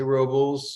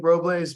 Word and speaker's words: Robles: trying to defer to okay you know I'm trying to go a little native there but I I think Robles but I've heard Robles and that that's how they say it there many times so I am attempting to correct and change to the local dialect on there I think